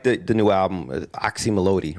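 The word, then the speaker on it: Oczy Mlody: the the new album oxy melodi right that's how you pronounce exactly you're like the first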